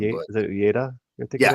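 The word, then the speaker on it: Uyeda: I don't want to mispronounce his name. Is it Ueda? Yeah. Ueda.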